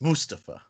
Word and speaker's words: Mustafa: his thing you know he insists you and pronounce his name correctly it's mustafa okay first of all i didn't know he